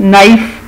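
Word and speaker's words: knife: फिर नाइफ, चाकू को कहते हैं, इसमें के साइलेंट है।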